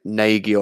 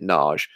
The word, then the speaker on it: Nagy: called not and it she pronounces it nage and that's it's a Hungarian name and it bothers me